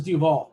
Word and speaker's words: Duvall: to uh hicks versus duvall cash hicks i didn't pronounce that correctly that's duval that person must be